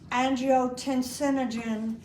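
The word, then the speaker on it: angiotensinogen: That means it's floating around there and it's pronounced angotensinogen and it's saying to his friend, I sure am bored.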